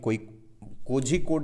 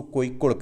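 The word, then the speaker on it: Kozhikode: है, शाखा है, वो केरला के कोझिकोड आप पढ़ते होंगे, बट एक्चुअल में जो मलयाली लोग प्रोनाउंस करते हैं उसको कोइकोड कहते हैं।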